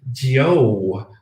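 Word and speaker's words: jiu: If you typed J-I-U, that is Gio. Literally G-O, Gio makes the J-I-U sound.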